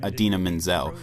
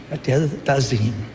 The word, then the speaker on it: Idina Menzel: however, of John Travolta's mispronunciation of the name Idina Menzel, which he pronounced The wickedly talented one and only Adele Dazeem.